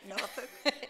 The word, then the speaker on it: Norfolk: And I worked most of my career in Norfolk, and notice how I say that word, okay? Everybody has different pronunciations of that name. Norfolk.